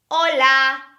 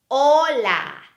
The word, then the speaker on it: hola: we never pronounce the letter ah-choo it's a silent letter here are some examples hola hola no sound of the letter I change it's